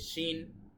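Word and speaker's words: شين: S scene তারপরে রয়েছে শিন শিন ইংলিশে যদি আমরা এস এইচ অথবা বাংলায় তালব্য সদি সেটার মত এই শিনের উচ্চারণ তারপরে রয়েছে সদ এটা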